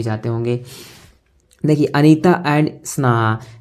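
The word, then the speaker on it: Sana: होंगे देखिए अनीता एंड स्ना एस ए एन ए स्ना अनीता एंड सना H silent है क्या पढ़ जाएगा सना अनीता एंड सना जो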